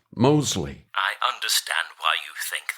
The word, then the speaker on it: Mosley: That's Mosley. Oh, yes, with a silent T. No, like I told you last time, there is no T, silent or otherwise. It's just Mosley.